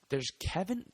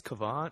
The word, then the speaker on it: Kevon: Dude, I want to call him Kevin, but I think it's Kevon. I mean, it's spelled with the O, man. It's like Kevin, but with that I, there's an O.